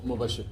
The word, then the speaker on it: Mubashir: Mubashir, spell it. Yes. Can you spell your name? M-U-B-A-S-H-I-R. It's pronounced Mubashir.